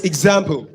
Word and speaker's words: example: So it's example. Just like saying examination. So it's ig. Go. That's what it's pronounced.